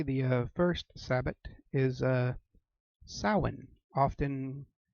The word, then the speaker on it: Samhain: the darker okay the first sabot is a salmon often mispronounced as Samhain Christians tend to know this as Halloween now salan means end of summer or summer's end and